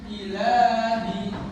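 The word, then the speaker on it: إلهي: Ini sama ya, karena huruf lam berharokat fathah panjang. Lamnya ini, alif lamnya nih, lamnya berharokat fathah panjang. Nah, cara membacanya dipanjangkan satu ayu dan la. Jadi la bisa?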